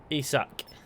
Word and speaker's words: Isak: It's pronounced Isak. Isak.